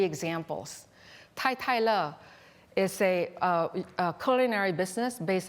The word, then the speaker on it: Totole: And so, well, you'll hear some of my colleagues call it Totole. It's actually one and the same thing. It should really be pronounced as Tai Le.